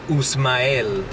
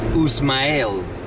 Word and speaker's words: Usmael: Another interesting one is there's a lot of guys here called Usmael. And I'm not sure if this is completely accurate, but it's spelled U-S-M-A-I-L. Usmael.